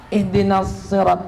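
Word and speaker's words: اهدنا الصراط: Kenapa ihdinas sirat pakai sa? Aslinya sin. Karena sin ketemu dengan huruf yang mufakhamah, oh, maka sulit kalau bacanya sin. Ihdinas sirat, ya, maka pakai sad.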